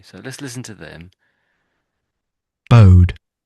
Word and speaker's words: bode: Bode. Bode. So it's it's as if it's this this word here. So this is the word bow.